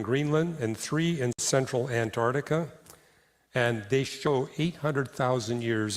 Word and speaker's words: Antarctica: But for some reason, when it's Antarctica, they never pronounce the C. It never hit the C sound.